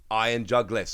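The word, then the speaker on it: Iron Jugulis: iron juggless and yes I have checked the pronunciation on this one because I was not 100 sure but I've checked it and it is like jug iron jug list so what have we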